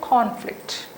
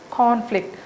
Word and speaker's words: conflict: Okay, if it is a noun, you say conflict, conflict. So the first syllable takes longer, first sound is longer and louder, conflict.